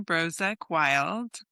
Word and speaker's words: Brozek-Wild: So, my name is Brozek Wild. Um, and it's okay to mispronounce it.